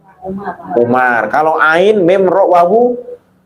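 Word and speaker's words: عمر: Kalau ain mim ro Umar.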